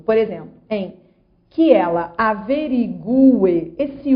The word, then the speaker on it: averigue: A pronúncia é que ela averigue e não que ela averigue, como escutamos por aí.